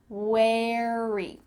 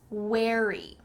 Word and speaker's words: wary: Wary. It kind of sounds like wear. I'm wearing clothes. Wear, and then you just add E at the end. Wary.